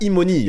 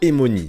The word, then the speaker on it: Emoni: Prononcez ça Emoni avec le son I et non pas Emoni, c'est Swahili comme nom.